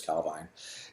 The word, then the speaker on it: Calvine: People pronounce it different ways. Nick said it's Calvine.